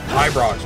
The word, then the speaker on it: Ibrox: And it's pronounced Ibrox, right? Like, pronounce the I like an I.